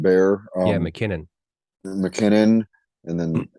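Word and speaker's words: Bär: I think it's pronounced Bear.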